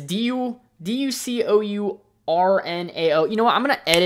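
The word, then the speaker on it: Julia Ducournau: Now, I'm going to try to pronounce some of these names, so don't kill me because it's French. So director is Julia Dusorino. It's Ducournaao.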